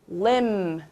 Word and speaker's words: limb: 조금 이제 어려운 단어인데 limb. 아까처럼 B가 묵음이 되겠어요.